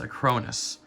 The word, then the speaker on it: Acronis: It's pronounced Acronis.